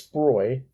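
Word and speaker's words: Sprogø: to that island called she pronounces it's sproy if i see if he's written down it says sprogo so i guess danish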